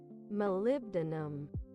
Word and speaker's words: molybdenum: Please, Google, tell me, how do you pronounce it? Molybdenum.